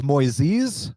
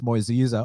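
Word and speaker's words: Moisés: on thiago moises now brazilians have told me it's moisees but i heard annex saying moises and i know anak doesn't up pronunciation so you know much respect to my brazilian brothers telling me it's moisesa obrigado but i'm gonna have to go with uh john annex pronunciation with his which is moises and i love this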